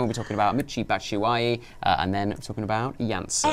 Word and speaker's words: Batshuayi: And then we'll be talking about Imminently, Batshuayi, and then talking about Janssen. Excellent pronunciation on Batshuayi.